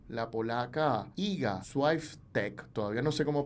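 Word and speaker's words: Świątek: Además, le consulté a unos amigos que viven en Polonia cómo pronunciar su nombre, y es así, Swiatek.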